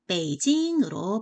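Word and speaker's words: 北京: 중국의 국영 일이 되었습니다 중국의 수도는 북경 인데요 중국어 발음으로는 베이지 인으로 발음을 합니다 쭉 에어 나는 중국어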